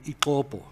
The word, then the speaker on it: Ixopo: Now, the opening sentence of that book talks about a town in KZN called Ixopo. It's spelled I-X-O-B-O, Ixopo. Applying English pronunciation rules, our TTS pronounces it Ixopo, because it does not contain the phonemes for other languages.